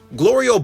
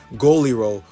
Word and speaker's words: Glorio: Glorio buys the bug, and meanwhile Goku's mispronouncing his name Goliro while I call him Glory Hole.